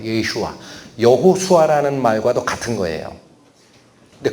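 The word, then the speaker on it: ישוע: 원래 히브리어로 발음과 비슷하게, 최대한 비슷하게 발음하면 예슈아예요. 예슈아.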